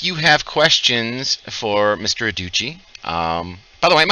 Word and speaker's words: Adducci: and gentlemen if you have questions for Mr Uchi um by the way am I pronouncing your last name correctly yeah yeah you